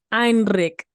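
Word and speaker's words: Enric: But the way my host mom pronounces it it's Heinrich. Heinrich. In Catalan, Heinrich is Enrique in Spanish.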